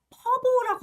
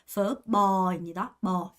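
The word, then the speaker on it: phở bò: 베트남 가면 퍼보라고 하지 않죠? 퍼버입니다.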